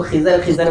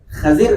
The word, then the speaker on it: خضر: اپن اس کو خضر بولتے، خضر نہیں ہے، اس کا تلفظ کیا ہے؟ خضر، اس کا اصل تلفظ ہے۔ ایک اللہ کے ولی